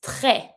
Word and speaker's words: très: Very is très. I do not pronounce my S on my own because it's a S.